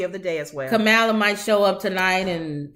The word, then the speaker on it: Kamala: It's Kamala. I keep thinking it's Pamela. We say it wrong.